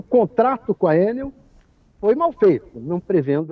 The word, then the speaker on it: Enel: Pois é, a pronúncia é Enel, né? Eu falo Enel, mas enfim, Enel, então.